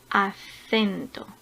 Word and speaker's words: acento: Por ejemplo, acento, acento. La sílaba tónica está en la segunda sílaba empezando por el final. Cen.